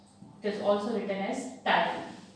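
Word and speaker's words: ptyalin: इट is also written as टाइलिन, T silent है इसका।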